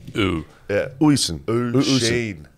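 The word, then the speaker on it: Oisín: Oosheen. Oosheen.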